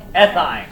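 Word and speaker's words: ethyne: Ethine.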